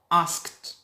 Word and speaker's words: asked: He went to Ali Baba's house and asked. D, pronounce it T. Pay attention. It is spelled D. but I pronounce it T.